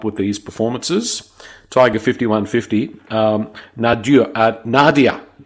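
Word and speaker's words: nadir: Tiger 5150, Nadia, not Nadia. I knew I was going to have trouble. Nadia, that's the word.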